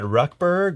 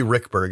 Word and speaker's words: Ruekberg: we are with Brad rutberg or Rick Berg I always pronounce it differently and I hear so many people print out hi Natalie just take your pick it's actually Rick Berg it's not regular that